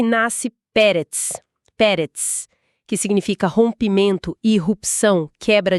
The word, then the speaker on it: Peretz: E nasce Peretz, que significa rompimento, irrupção, quebra de barreiras. A pronúncia é Peretz.